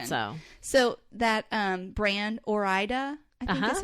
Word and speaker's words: Ore-Ida: have a three-year-old so so that um brand or ida is how you say it they have a